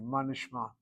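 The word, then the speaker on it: מה נשמע: We don't say ma nishma, we go manishma, manishma. We literally link the word to the word nishma.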